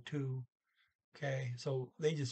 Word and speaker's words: to: Okay, they got 2 o'clock here, but all she says is 2, which is spelled T-O, and O is primarily pronounced like a double O, ooh, like in T-O-O, 2.